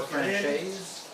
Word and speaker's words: Francaise: Both are accepted, and both pronunciations are also accepted.